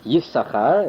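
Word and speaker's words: Yissachar: He, of course, vocalizes it Yisachar as number 1.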